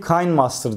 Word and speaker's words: KineMaster: videoların altına yorum geliyor abi o kinemaster değil Kay Master diye okunuyor diye yorum yazan arkadaşlar